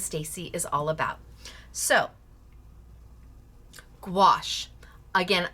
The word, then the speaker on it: gouache: So, gouache, again, I rhyme it with squash. Squash. Gouache. That's how I remember how to pronounce it.